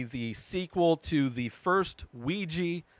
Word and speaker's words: Ouija: This is apparently the sequel to the first Ouija. Ouija is how I grew up saying it. I've heard it pronounced Ouija as well, and I believe that's actually the correct way, Ouija board, the thing